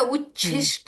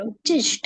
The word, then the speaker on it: उच्छिष्ट: करून म्हटली जात नाहीत आता उच्छिष्ट पाहिजे पण ते उच्छिष्ट असं प्रोनन्सशन आलं बरोबर उचिष्ट गण उच्छिष्ट उच्छिष्ट पाहिजे चल छ उिष्ट बर शिष्ट